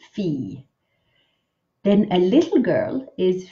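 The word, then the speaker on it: fille: a Doris fee fee make sure you only make one syllable with this word e fee not figure just fee then a little girl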